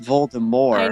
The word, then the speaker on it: Voldemort: correctness voldemort is pronounced voldemort now yeah that's right yeah because it's french the french verb more